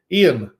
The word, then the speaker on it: Ian: But Ian, sometimes pronounced Ewan. I think I've heard Welsh pronounce it Ewan that way as well. But Ian, same thing.